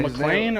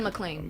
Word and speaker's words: McClain: Oh man, McLean or Elijah McClain.